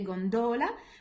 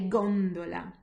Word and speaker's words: gondola: So albero, cinema, gondola. Can you see how the stress, I'm putting the stress more on the first one rather than the second? I don't say gondola, I say gondola.